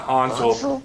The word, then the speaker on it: Hansel: Nikolai Hansel. Kind of like Hansel and Gretel. Nikolai, and you have to say it like that. Hansel.